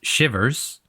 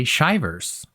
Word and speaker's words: Shivers: Yeah, well, so my last name is Shivers. And for whatever reason people really like to say shyvers.